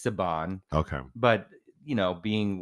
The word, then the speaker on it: Saban: name well I certainly don't want to purposely mispronounce the name so sabon of course not I just don't I'm not